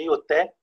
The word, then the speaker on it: Ioté: Tem pessoas que pronunciam um pouco diferente, mas a pronúncia que eu vou usar aqui é Ioté.